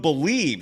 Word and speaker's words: Bleav: Head to BetOnline today, and don't forget to use the promo code BELIEVE.